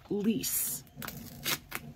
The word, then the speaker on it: Lyse: lease I think right she pronounced say my name like l-e-e-s-e she put please right